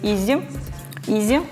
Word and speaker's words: EZ: Это EZ, на самом деле правильно говорить Easy.